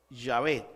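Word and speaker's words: Yahvé: y por investigación recientes los expertos han concluido que la pronunciación más probable es llave este nombre es el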